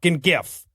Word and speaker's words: GIF: __ ] gif right I am NOT saying both sides have equal claim to the pronunciation here the majority of people say gif and outside of proper nouns pronunciation is determined by the majority it's also better since